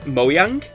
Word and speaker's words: Mojang: So, what I'm aware is that Scandinavian languages pronounce a J as a Y sound. So, I believe in Swedish, now I don't actually speak the language, it would actually be pronounced Mojang.